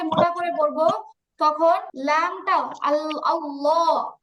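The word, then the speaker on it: الله: আল্লাহ শব্দের লামকে মোটা করে পড়ব তখন লামটা আল্লাহ আল্লাহ এই আল্লাহ লামটা উচ্চারণ করার সময় যেবার আগাটা দুই দাতের আগায়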